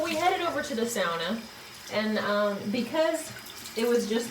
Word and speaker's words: sauna: Why did she just say sauna? Ed's family is Finnish, and he's taught us that the correct way to pronounce it is sauna. Not sauna.